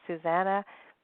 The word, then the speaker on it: Susanna: today I am excited to be speaking with Susanna mm I think that is how you pronounce your name is that right yeah totally